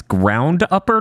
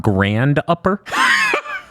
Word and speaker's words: Ground Upper: the fact uh guys it's ground upper not grand upper i figured i'd get that news story out here all right to twitter to be like us japanese we pronounce them basically the same so it didn't really matter i thought i said ground up or pretty clearly but everyone started calling it grand upper and i let it